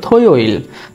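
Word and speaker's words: 토요일: তো জুমাল আছে কি কি দেখি, যেমন শনিবার থো ইয়োইল, থো ইয়োইল, উচ্চারণ হবে থয়োইল, থয়োইল মানে হলো শনিবার, থয়োইল।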